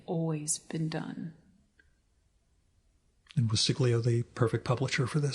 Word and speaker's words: Siglio: And was Siglio the perfect publisher for this? She was the perfect publisher. Is that pronounced correctly, by the way?